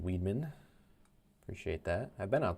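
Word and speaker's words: Weidman: It's pronounced Weedman.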